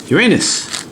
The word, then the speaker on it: Uranus: good no not neptune was it uranus that's actually how to pronounce it by the way aha it is okay